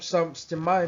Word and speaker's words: stymie: Well, the word stymied means to stop stymie means to stop someone, from doing something or to stop something from happening. Sorry, now I learn from the dictionary. It It is pronounced stymie. It's pronounced stymie.